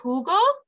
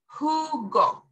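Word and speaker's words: jugo: the H is silent the J makes up for it and it goes huh so Hugo who go or who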